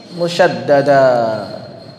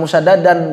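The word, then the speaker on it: musyaddadah: Al-lafzu biharfaini harfan kathani musyaddada. Jangan musyaddadan bacanya ya. Bukan anak TVA lagi. Musyaddada.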